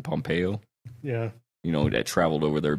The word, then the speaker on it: Pompeo: How do you pronounce his name? Pompeo?